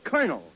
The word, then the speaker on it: colonel: In military parlance, C-O-L is pronounced cur, as in colonel.